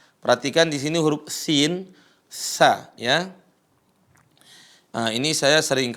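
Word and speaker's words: ث: Huruf sa, perhatikan, ujung lisan ketemu dengan gigi seri atas. Cara bacanya sa, si, su, bas.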